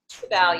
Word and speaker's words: Sibel: So, and again, back to Sibel, is that how you say it? Sibel, yeah.